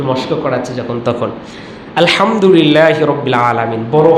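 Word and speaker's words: الحمد لله رب العالمين: সকালেও বলতেছিলাম একটু মশক করার চেষ্টা যখন তখন আলহামদুলিল্লাহি রাব্বিল আলামিন বড় হা শক্ত করে পড়তে হয় একটু এই হা উচ্চারণ করে যদি পড়ে তাহলে সঠিক অর্থ হয়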